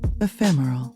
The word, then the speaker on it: Ephemeral: Ephemeral. Say it slowly once then naturally. Notice the emphasis on the second syllable and the smooth rhythm of the word.